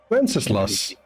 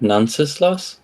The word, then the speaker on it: Wenceslas: Wenceslas. You said Nunceslas? Wenceslas. Wenceslas. Spell that for me.